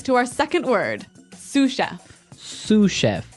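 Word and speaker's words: sous chef: Sue chef. Sue chef. Sue chef. S o u s. So, the s is silent because it's like a French word.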